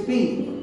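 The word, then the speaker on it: Thespis: His name is SP. Hi. T H E S P I S. S p silent S P.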